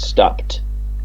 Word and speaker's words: stopped: we add ed, but the pronunciation is a T. Mm-hmm. So you can imagine it's like this. Okay? There's no extra space in the verb and the ed. It's just stopped.